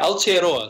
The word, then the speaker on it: Aotearoa: Now, I'm going to need your help pronouncing this, Jeremy, but Aotearoa? Yeah, Aotearoa.